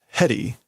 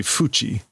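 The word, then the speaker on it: 縁: That's why in the domain, the time of being enclosed, heri. Okay, that is not the normal pronunciation for that kanji. It's usually fuchi.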